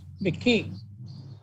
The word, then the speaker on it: Mackee: Their name is spelled Mackee. It's pronounced McKee.